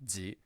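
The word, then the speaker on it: ぢ: It used to be the case that ji and this one, ji, were pronounced differently, but nowadays we pronounce these the same way. So these are both just ji.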